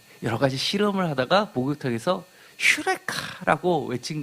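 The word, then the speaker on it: εὕρηκα: 그리스 철학자들이 여러 가지 실험을 하다가 목욕탕에서 휴레카라고 외친 것 기억하시죠? 발견했다. 유레카라고 합니다. 근데 발음은 원래 휴입니다.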